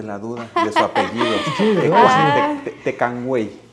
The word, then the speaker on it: Tecuanhuey: Tecuanhuey. Es Tecuanhuey. Tecuanhuey. Tecuanhuey. Bueno, aunque también tengo familiares que se apellidan Tecuanhuey porque es muy difícil la pronunciación de los diptongos y triptongos que tiene.